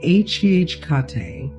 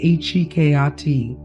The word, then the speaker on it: Hecate: Some say it h kate with three syllables that fall like footsteps on a moonlit path. Others say hi kayati. softer with the emphasis shifted.